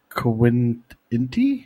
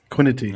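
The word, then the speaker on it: Kwitny: Iced, Jeff Quinty? Is that how you pronounce it? 1989. Quinity.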